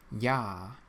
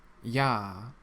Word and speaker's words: Ja: Ja. Ja. It means yes. Ja. The letter J in German is always pronounced like a Y.